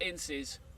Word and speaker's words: Ince: It's actually, I want to make sure I get the pronunciation right here, Ince.